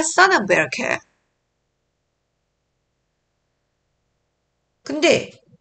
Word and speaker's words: Berechiah: 자, 이름을 영어식으로 읽어줘야죠. 아벨, AB의 에이볼 이라고 읽고 스가랴를 제코라이아. 그 다음에 바라기아를 베라카야. So from the blood of righteous Abel to the blood of Jerokiah, son of Berechiah.